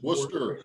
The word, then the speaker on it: Worcester: If I said It's Worcester. Worcester. Took me 6 Worcester? months to You gotta learn pronounce it like Worcester.